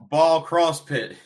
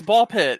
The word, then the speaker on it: Ball x Pit: Ball Cross Pit. No, it's Ball Pit. It's time. The X is silent.